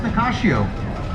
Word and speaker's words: Nicasio: And in case you're wondering, it is pronounced Nicasio because that's Portuguese as opposed to Spanish. It was started by the Portuguese. Portuguese like to put a sh in everything.